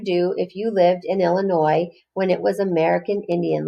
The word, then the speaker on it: Illinois: long ago illinois and it's spelled it's spelled with an s at the end but it's a french word so we don't say the s at the end it's not illinois it's illinois long ago ago illinois